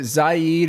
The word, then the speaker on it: Zade: watched uh i i is it zayed or zade do you know how to pronounce it yeah zade aftabs uh movie the